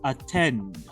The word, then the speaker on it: attend: El verbo to attend. Escuchen dónde lleva la fuerza de voz. Attend. Lleva en la última sílaba.